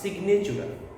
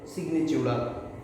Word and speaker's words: signatura: সিগনেচুরা, বানানটা স্পেসিফিক্যালি মনে রাখবেন, সেটা হচ্ছে SIGNATURA, সিগনেচুরা, ঠিক আছে? বা চিউরা অনেকে বলে, সিগনেচুরা উচ্চারণটা তাই।